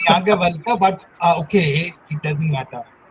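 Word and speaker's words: Yajnavalkya: I'm feeling some pressure to try to pronounce these things correctly in front of this audience. It's Yagyavalkya, but okay, it doesn't matter.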